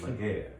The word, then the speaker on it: Laguerre: And make sure y'all pronounce it right if y'all was to ever be around and try to read it off some paper. Don't butcher the man name. It's Laguerre. It's Laguerre, right? It's Laguerre. Laguerre. There you go. Gotta say it with the little mean on it.